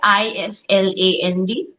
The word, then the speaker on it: island: abishek was also right Nikita can you please pronounce the word i s l a n d Island yes yes yes so s did you